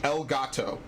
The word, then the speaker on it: Elgato: Oh no, it's actually Elgato. It is actually ELGATO. That is actually how it is spelled.